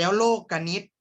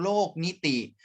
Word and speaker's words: โลกนิติ: โครง สี่ สุภาพ แล้ว โลกนิติ ตัว นี้ ไม่ ได้ อ่าน ว่า นิติ นะ ครับ ตาม หนังสือ ของ นัก เรียน เลย นะ ไม่ ได้ อ่าน ว่า โครง โลก นิติ อ่าน ว่า โครง โลกนิติ